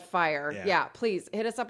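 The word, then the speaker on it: FYR: watch it's social media it's spelled F Y R but it's called fire yeah please hit us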